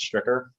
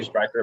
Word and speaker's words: Stricker: think you were correct it's stricter most people say striker but i don't mind striker sounds good as well but yes